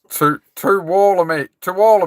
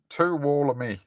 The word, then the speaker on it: Tuolumne: Tuolumne is how you pronounce it. Tuolumne.